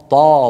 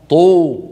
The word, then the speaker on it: ط: وطرف اللسان اط اطا طا طا طا وهي حرف مفخم مستعلم مطبق طا طا طا طو طو طو طي طي طي واذا سكنت تقلقل اطا اط محيط هكذا هي الطاء